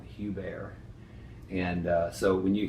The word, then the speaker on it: Hubert: mentioned the name leon hubert however being addicted to the english pronunciation of everything as i am the correct name for the man is leon hugh bear and uh so when